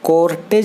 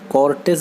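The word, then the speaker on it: cortege: कॉर्टेस, कॉर्टेस friend इसे कॉर्टेज नहीं पढ़ेंगे, कॉर्टेस बोलेंगे, इसका सही प्रोनाउंसिएशन है।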